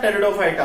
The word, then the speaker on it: Pteridophyta: थैलोफाइटा, ब्रायोफाइटा, टेरिडोफाइटा। किसमें? थैलो, ब्रायो, टेरिडो। नाउ टेरिडो क्यों? P silent होता है।